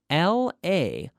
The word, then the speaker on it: Laroque: Could you spell that for me, please? Sure. That's Laroque.